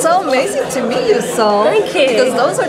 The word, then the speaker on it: Sohm: We have your beautiful young lady by the name of Sohm. Did I pronounce that right? Yep, Sohm.